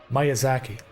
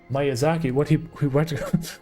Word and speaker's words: Miyazaki: And how do you pronounce his last name? Miyazaki, right.